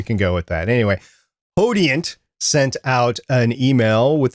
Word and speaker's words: Podiant: hate mail, we're aware they do pronounce it Podiant. We are aware of that, but we like to say Podiant here because that's how we read it, because we're American.